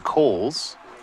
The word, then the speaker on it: Cowles: eighth inning is Jonathan Cowles leading off here for Greeley gojos first pitch fouled away actually the pronunciation is Kohl's Jonathan one of the